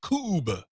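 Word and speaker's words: Kubb: Cube. Yep, rhymes with tube.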